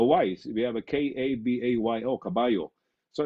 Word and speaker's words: caballo: uh what else words in spain they pronounce double l as almost a y so for example c a b a c-a-b-a-l-o would be read as caballo in the philippines we